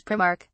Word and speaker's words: Primark: I mean, the fact it's clearly said with the pronunciation of its I is a bit of a clue.